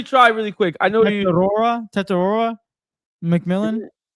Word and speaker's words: Tetairoa: I know Tetorora McMillan. Isn't it TEI? No, it's TETAIROA. You said TETA. Oh, yeah. I don't know. Yeah, McMillan. Tetorora McMillan.